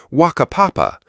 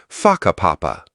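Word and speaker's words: Whakapapa: You'll hear locals casually talking about places like Waka Papa, pronounced Faka Papa.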